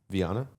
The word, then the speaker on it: Viana: Viana.